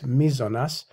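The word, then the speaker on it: μείζονος: I always get the pronunciation of this wrong. It's mizonas.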